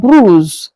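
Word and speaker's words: brosse: Dusta is lab bru. Lab bru. I said the o is being pronounced as u.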